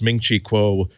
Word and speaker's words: Ming-Chi Kuo: That is the three syllables Ming-Chi Kuo are what if you